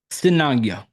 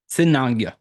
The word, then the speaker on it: Cinaglia: Y'all may not be able to hear this, but I want to try to say it the way they say it on how to pronounce. Let me see. Cinaglia. Cinaglia.